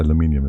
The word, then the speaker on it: aluminium: Aluminum is American. Yes. Uh, aluminum is wrong. And the aluminium is right.